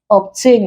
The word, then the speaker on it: obtain: Obtain is also a prefix, we stress tail.